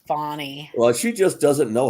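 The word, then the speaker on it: Fani: name fonnie it's Fanny Fanny Willis it's spelled Fanny Fanny pronounced fonnie well she just doesn't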